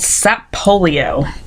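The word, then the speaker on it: Sapolio: didn't last very long it was called sat polio spelled like polio with si in front of it's a polio was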